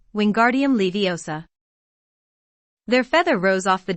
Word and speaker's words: Wingardium Leviosa: having much more luck wingardium leviosa he shouted waving his long arms like a windmill you're saying it wrong harry heard hermione snap it's wingardium leviosa make the gar nice and long you do it then